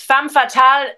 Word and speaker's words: femme fatale: Well, yeah, it's actually French, and the French are weird. No, um, Right. they like to not pronounce some things of their words. So it's femme fatale, even though it's like written with an Okay.